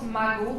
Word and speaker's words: Margot: qui se prononce Margot d'ailleurs, j'ai regardé récemment.